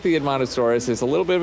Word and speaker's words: Edmontosaurus: The Edmontosaurus? In Montosaurus, yeah.